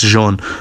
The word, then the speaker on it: Jean: Josh EMT but yeah John Silva uh that's not how you say his name I don't care but yeah Jean Silva It's not Jean it's Jean uh Jean Silva is